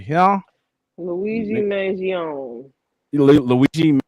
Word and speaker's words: Mangione: Luigi Mangione.